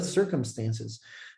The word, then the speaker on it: circumstances: year depending on the circumstances don't say circumstances that's not circumstance circumstances circumstances close your lips when you say the letter m circumstances circumstances so three